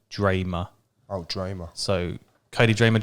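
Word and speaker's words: Drameh: Drama? Yeah, but it's pronounced like Dramer.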